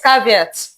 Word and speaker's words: caveat: Did I pronounce it right? Yes, you did. Yes, caveat.